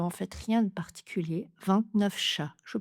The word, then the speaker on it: vingt-neuf: Et c'était donc une liaison en V. Sa sœur faite ses 29 ans. 29 ans. Même chose liaison en V. J'ai invité 29 autres personnes. 29 autres personnes. Même chose. Nous sommes à 29h du départ. Nous sommes à 29h du départ. Ici, j'enchaîne avec mon F.